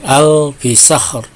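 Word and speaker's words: ألف شهر: Nah, ini dibaca dengan alfi syahr. Nah, ini dibaca dengan tafhim, ya, karena huruf sebelum waqaf ini adalah fathah, yaitu sebelum sin dan ro. Kecuali kalau di wasol, maka ro-nya dibaca tarkik atau tipis.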